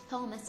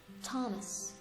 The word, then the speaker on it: Thomas: Thomas, this is not Thomas, it's Thomas, H is silent.